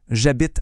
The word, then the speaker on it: j'habite: Et pour dire où on habite, la phrase c'est "J'habite à". Faites juste attention à la petite contraction ici. Le verbe c'est habiter, ça commence par un h muet. Alors le je devient j'apostrophe. On dit j'habite.